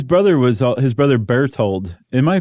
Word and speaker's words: Berthold: His brother was all His brother Berthold, am I pronouncing that correctly? Bert b e r t h o l d?